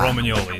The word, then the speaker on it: Romagnoli: I have a G in the name. It's silent. Okay. So you would say it just like you would say the GN in lasagna. So it's Romagnoli is the correct way to say it.